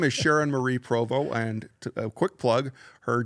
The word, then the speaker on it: Provost: everybody the pronunciation is Provo but the spelling is p r o v o s a silent St that's correct it's a French name yeah got it so